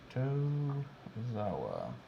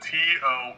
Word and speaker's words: Tozawa: Tozawa. Did you put an E in that? Dude, I put every vowel in there, just hoping I'd hit one. @ sign. Yeah. The way you pronounce it, Toezawa.